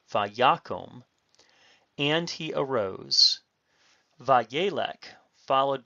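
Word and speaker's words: וַיָּקָם: Notice that the stress is on the yod, vayakom, and he arose.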